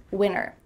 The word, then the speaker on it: winter: Yeah, we're cutting out that T, especially when there's an NT in the middle of a word.